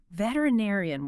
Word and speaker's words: veterinarian: Veterinarian. Wow, that is a long word. Let me try to say that. Veterinarian. You got it. Five syllables. That is a mouthful.